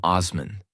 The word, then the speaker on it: Osman: We are the Ottoman state and this is our land." That was the birth of the Ottoman Empire. A name that came from Osman. Osman. Ottoman in Western pronunciation.